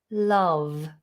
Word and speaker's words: love: It's the sound, like in the word up, above, glove, love, slightly higher, Okay, so you say la, not la, love. And make sure you've got the nice V vibration on the lip.